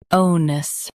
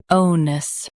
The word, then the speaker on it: onus: Oness. Now read the syllables shown on the screen naturally. Ow. Nus. Oness. Stress o and keep nus soft.